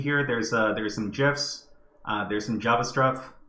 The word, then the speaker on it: GIF: is the uh I I pronounced it gifs not like Jeff the peanut butter but uh anyways let's